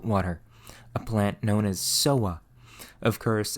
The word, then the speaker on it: sowwa: a plant known as soa. Of course, as always, the European alchemists mispronounced soa as soda, and so they called the alkali made from it soda alkali.